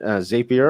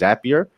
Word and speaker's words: Zapier: ours and with connexit as bruce has mentioned zapier or i know some of i think the official word uh the official pronunciation is zapier but uh i prefer zapier so anyway um